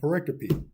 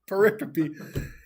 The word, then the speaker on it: pericope: mom's like, "You dummy, that's not how you pronounce it." Apparently. Okay. Pericope. And I did. I went on YouTube and I typed in, "How do you pronounce pericope?"